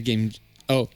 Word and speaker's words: Game Gear: La Game Gear. Je sais Oui. pas pourquoi, mais c'est le seul prononciation de Gear qui est autorisé pour la Game Gear.